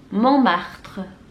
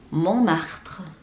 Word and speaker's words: Montmartre: Yang terakhir ada Montmartre. Montmartre. Montmartre.